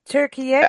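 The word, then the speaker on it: Türkiye: Turkey is Turkiye. How What, do you Turkey.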